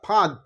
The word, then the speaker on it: ফাঁদ: দ এই যে দ ফাঁদ একচুয়ালি ফাঁদের যে উচ্চারণটা ফাঁদ মানে দ এর উচ্চারণটা কিন্তু ব্যঞ্জনের মত হচ্ছে একচুয়ালি এখানটা হসন্ত হওয়ার কথা মানে দ এর যে